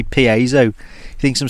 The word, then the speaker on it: piezo: which I'm using today, it's got a built-in piezo igniter. Shout out Benny Mac. Every time I say piezo, he thinks I'm saying piezo. Obviously a nice bit of music there, but no, how do you pronounce it?